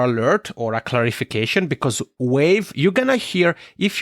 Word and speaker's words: Wavve: or a clarification, because Wave, you're going to hear, if you're here with Baird and I, you're going to hear the word Wave quite a few times, and that is spelled WAVVE.